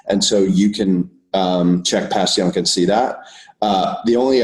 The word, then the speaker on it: Passyunk: is to go to Passyunk Square. Mm-hmm. And it sounds like it's spelled if you Google it, but that is just